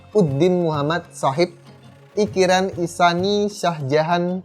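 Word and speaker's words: Shah Jahan: lanjut biar lebih singkat dalam Bahasa Urdu sang Kaisar ini lebih sering dilafalkan dengan nama Syah Jihan Nah biar gampang untuk pelafalannya kita ikut bangsa Urdu untuk penyebutan nama sang Kaisar ini kita sebutnya sebagai sajian ingat namanya saja nah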